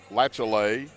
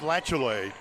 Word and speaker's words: Latiolais: And let me tell you, to spell it, Hannah spells her name Latiolais, and it's pronounced Lachelay, just as Coach said. And I spelled it after you told me Latchalay.